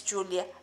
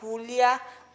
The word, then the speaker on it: Giulia: I'm from the region that is called Friuli Venezia Giulia, which, yes, my name is Giulia. That is spelled, by the way, G-I-U-L-A-A, which is in